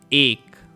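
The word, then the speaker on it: ایک: of air be egg ache ache you can think of ache in english like her hurt and ache right ache it means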